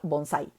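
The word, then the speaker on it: bonsái: Ejemplo, bonsai. ¿Sí? Bonsai es una palabra aguda. La sílaba tónica de bonsai es sai.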